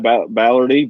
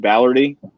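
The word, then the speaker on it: Balerdi: bolidari from uh dortmund yeah how do you pronounce that ballardy ballardy yeah ballard the young defender from dortmund which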